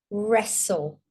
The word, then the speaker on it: wrestle: Wrestle with a silent W because of the R.